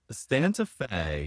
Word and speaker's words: Santa Fe: Rhymes with gay. Santa Fe.